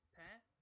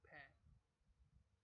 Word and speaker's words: paix: pa, they call it paix. Because in French, if I'm correct, otherwise you have to correct me. In French, this X would not be pronounced, and they make an A sound.